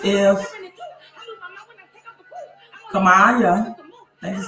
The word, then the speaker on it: Kamala: JA says if Kamala, that is how you pronounce it.